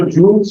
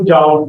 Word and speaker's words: joule: कुछ लोग इसको जूल्स पे कहते हैं, कुछ जाओ. Both are correct. It's just the difference of pronunciation.